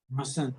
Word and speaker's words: mustn't: Mustn't. Yes, the T is kind of silent.